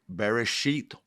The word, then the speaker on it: bereshit: just said genesis means bearish sheet or the beginning exodus le if you want to know what bereshith is uh b e r e s h e e t very sheet it also uh the